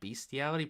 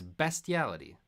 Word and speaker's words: bestiality: it beastiality or bestiality I want to call it bestiality but I usually hear people say beastiality but it's spelled bestiality and I prefer that like bestial isn't best besal a word it's not beastial it's bestial yeah it's